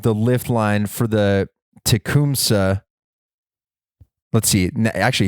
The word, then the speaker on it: Tecumseh: lift line for the Tecumseh let's see actually he pronounced this for me take comsa so let's say I